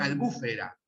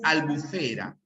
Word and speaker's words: albufera: zafiro, y acá también muchos profesores de geografía se confunden y dicen albúfera, ¿ya? Cuando la pronunciación es albufera, ¿ya? Es una palabra grave que termina en vocal.